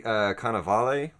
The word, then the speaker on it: Cannavale: and even to the point where once Bobby Cannavale, is that how you say it? Yeah, Bobby Cannavale, yeah.